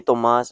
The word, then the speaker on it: Thomas: yeah but no I'm just Thomas or Tom but you can call me Tomas I mean it's like at this point I'm just like oh yeah that's with Jeremas. That's how I pronounce my name.